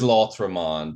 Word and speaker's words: L'Autre Monde: Blood Bags, Replace, and L'Autre Monde, which I now think I pronounced three different ways all three times. It is L'Autre Monde.